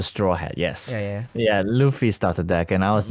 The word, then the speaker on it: Luffy: Lo-fi? No. Luffy. Luffy. Yeah. Yeah, You mean the You mean the main character Luffy? Yeah, the guy with the straw hat. Yes. Yeah. Yeah, Luffy started deck, and I